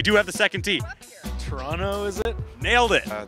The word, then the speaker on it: Toronto: basically took place in Toronto so um pronounce toron toron toron you don't pronounce the T you don't pronounce the second T Toronto Toronto Toronto Toronto Toronto